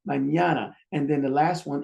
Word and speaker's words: mañana: It's 3 syllables. Ah. But according to the rule, the second one gets the stress. Ah. Add the consonants. You got the you got the and then you got the mañana.